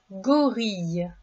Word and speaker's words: gorille: Le premier mot est le mot gorille. Le gorille. Le son ye dans ce mot s'écrit i deux l.